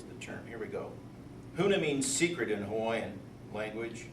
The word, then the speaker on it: Huna: So what I'm going to talk about today is Huna. It's spelled H-U-N-A. If you forget how it goes, just think of an old guy coughing. Huna! That kind of thing, right? It's like that.